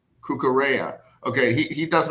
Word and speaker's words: Cucurella: Cucurella.